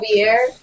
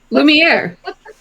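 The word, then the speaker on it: Lumière: I just know I'm always corrected when I say it. Not Javier. I always say it wrong. What's his name? Lumiere. Lumiere.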